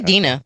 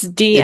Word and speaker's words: Dina: or I say Dana? Dina. Okay. It's Dina.